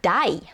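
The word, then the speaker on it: 大: It's the same kanji in oki, but in this case it's pronounced dai.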